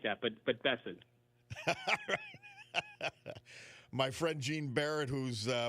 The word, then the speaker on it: Bessent: I tell people Bessent, like Crescent. He may not like that, but Bessent.